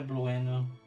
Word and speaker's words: Blueno: Yeah, Blueno.